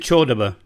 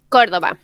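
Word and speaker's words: Córdoba: She comes from, is it Cordoba, or do you pronounce it Chordoba? Cordoba.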